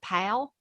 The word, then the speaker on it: Powell: to where kimberly's from i'm from powell tennessee p-o-w-e-l-l but everybody there pronounces it pal tennessee so if you smile when you talk you get kind of close to that i can't do it